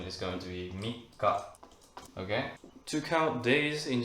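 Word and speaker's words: 三日: very confusing this means three days and the pronunciation is going to be Mika okay to count days in Japanese is going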